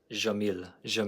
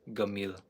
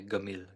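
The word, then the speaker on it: جميل: Some people might say jamil. But if you want to sound cool, in Egyptian you say gamil. This is pronounced like a g in Egyptian Arabic. So instead of saying jamil or jamil, let's say gamil. But yeah, pretty straightforward. J, g.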